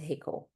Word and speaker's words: HCCL: It's also pronounced as hiko. It's easier like that.